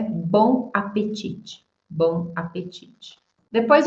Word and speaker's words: bon appétit: E a pronúncia é bon apetite.